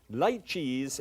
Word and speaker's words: lychees: Now, lychees is the way it's pronounced. Lychees would make you think, my goodness, duck and something out of a swamp?